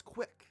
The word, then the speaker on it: CWC: version of quick po CWC are the initials of Christian's full name which he is unusually proud of due to its ability to be pronounced as quick this web page would